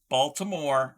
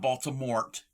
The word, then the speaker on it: Baltimore: Okay, you're commenting on how I pronounce the word Baltimore. It's Baltimore, not Baltimort.